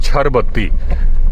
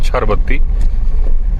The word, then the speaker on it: छर बत्ती: लोगों को दिखती है इसको बोलते हैं छर बत्ती इंग्लिश में स्पेलिंग बोलते हैं छिर सी एच आई आर बत्ती लेकिन बोलचाल में छर मतलब छलावा होता है उसके लिए बोलते हैं छर बत्ती तो वह यहां पर